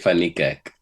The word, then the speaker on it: Van Niekerk: How do you pronounce Wade Van Niekerk's name? I'm sorry, I need to know this. Wait, Fanikak.